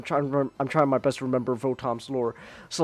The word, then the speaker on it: Votoms: they pronounce the vot they pronounce it votms with like votams in in like the the anime and stuff over there in Japan and it sounds like bottoms and then like the